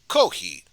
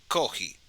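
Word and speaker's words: コーヒー: but instead it's just kohi cause if you got rid of the f sun it kinda sounds like coffee with kohi koki is very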